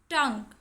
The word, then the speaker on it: tongue: Tongue. In tongue UE is silent.